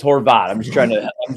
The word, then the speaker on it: Horvat: Odyssey Sports YouTube page rhymes with snot so there you go nobody it's not Horvat so it's Horvat I'm just trying to